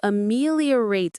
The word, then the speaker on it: ameliorate: You ameliorate a situation. You are actively improving the underlying conditions of your life. Let's say it. Ameliorate. Ameliorate. The stress is on the second syllable.